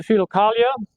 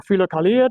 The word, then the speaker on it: Philokalia: The Philokalia or Philokalia, depending upon which Greek pronunciation you're using, it has now been completed.